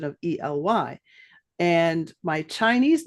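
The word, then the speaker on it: Ely: also pronounced El so the correct pronunciation of my name is El but it's sort of changed to over the years and I never added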